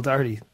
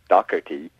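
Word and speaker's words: Doherty: you talking to Michelle Dy yeah yeah and uh she explained to a little group of people that she just pronounced her name Michelle Dy as opposed to Michelle dockerty there was some confusion over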